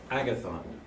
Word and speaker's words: Agathon: Agathon.